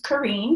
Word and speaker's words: Karine: My name is Karine, so it's pronounced Marine, but with a K.